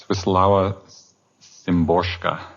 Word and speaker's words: Wisława Szymborska: Probably will not pronounce her name correctly. Wisława Szymborska.